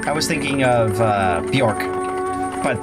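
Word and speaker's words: Björk: was thinking of uh bjork but the bee is silent so it's just like york or something like that um where is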